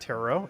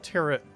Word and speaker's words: Tarot: like what's hello Barbara Tara is pronounced tarot is it oh tarot cards I always thought it was called turret that's tarot cards I